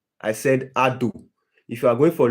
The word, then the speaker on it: ADO: Go for ADO. I said ADO. Ado. Ado. Don't Don't forget the name of the battery. It's spelled A D O.